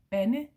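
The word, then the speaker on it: bande: the thing is that Ben is actually a Danish word it does exist it's with a silent D at Ben B nde and he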